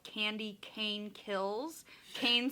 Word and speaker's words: Kane: called candy cane kills Kane spelled like the name k-a-i-n um by Brian McAuley